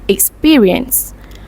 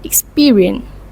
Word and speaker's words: experience: To give you examples, in British, the word experience is typically pronounced as experience. Experience. Meanwhile, in Vietnamese, it is typically pronounced as experience.